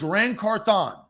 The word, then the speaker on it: Ran Carthon: crap for it but the emphasis is on Thon it is look this is the phonetic spelling right there I did it for you it is rancorthon you want to listen